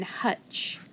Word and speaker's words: hutch: what do you see trigraph tch so underline it the t is going to be silent it's got to be a short u because it's in front of tch so hutch hutch and the hutch